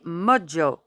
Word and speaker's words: mojo: Grâce à mon mojo, prononcé mojo à l'anglaise.